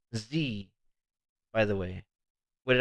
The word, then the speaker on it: Xi: world lines it's pronounced z by the way what did i say zai zaitek it's z-tech okay x-i is pronounced z-e-e all right construct your